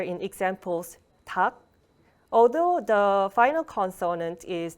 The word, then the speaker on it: 닭: So if 리을 and 기역 is used as the final consonant, then it's pronounced as 기역. So 닭, it's pronounced as 닭.